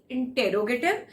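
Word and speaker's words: interrogative: इट इज नॉट द इंटेरोगेटिव। मैं अपनी classes में हमेशा प्रोनाउंसिएशन को साथ साथ लेके चलती हूँ, सो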